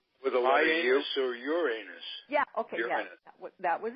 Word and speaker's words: Uranus: came out here they one planet in particular was pronounced another way for politically correctness and I had no idea that my teacher was saying it wrong according to everyone I'll let you guess